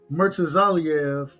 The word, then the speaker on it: Murtazaliev: Murtazaliev.